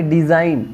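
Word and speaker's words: design: यहाँ पे डिज़ाइन, डिज़ाइन, जी silent, यहाँ पे ऑनेस्ट, एच साइलेंट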